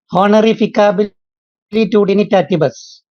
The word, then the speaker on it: Honorificabilitudinitatis: I'm not able to pronounce it. Honorificabilitudinitatis.